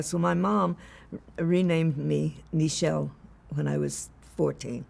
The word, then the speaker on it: Nichelle: like Michelle why don't you just name me nishelle and laughed and she said I like nishelle